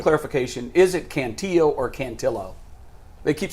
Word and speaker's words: Cantillo: I'm saying I'm saying it wrong it is cantillo he guys he's looked great his last couple